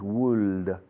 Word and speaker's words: would: Y como os dije ayer, la forma más cercana, o el truco el único truco que se me ocurre para ayudaros, para llegar a esta pronunciación fonética es la provincia o la ciudad de Huesca. Es lo que hacéis con la boca para formular la pronunciación de Huesca, Huesca.